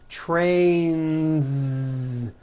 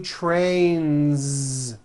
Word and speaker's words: trains: very good next word train ends with a voiced n see that so you've got one train or two trains two trains with a voiced Z ending song ends with a